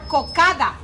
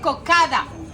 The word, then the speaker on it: cocada: We call it cocada. But let me tell you this. In Cartagena, we don't pronounce some letters and some words. Instead of saying cocada, we say coca. A stress at the end.